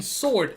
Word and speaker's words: sword: or a year ago the W in sword is silent why why is that